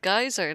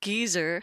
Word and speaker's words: geyser: for a geyser everyone it's pronounced geyser not Geezer that's like an old geezer anyway let's go back